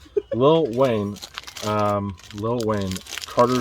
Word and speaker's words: Lil Wayne: The next item is a little Wayne. The No, Carter. not little. Lil. Lil. You have to pronounce it right, not little. Lil Wayne.